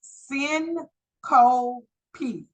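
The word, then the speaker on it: syncope: your book in on page 34 it is pronounced sin Co p s y n c o p e that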